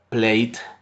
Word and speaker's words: played: el caso de played no se puede hacer played, ¿sí? Pronunciando la e. Como en el ejemplo que les enseñé a ustedes al inicio de la pronunciación de los verbos, la e al final de una palabra no suena, no tiene sonido, ¿correcto?